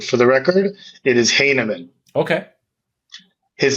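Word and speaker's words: Heineman: to interrupt but for the record it is Hanan okay his name is pronounced heaman so for everyone out there but I asked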